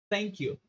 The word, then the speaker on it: thank you: sempre lembrar da linguinha na hora que for pronunciar thank you.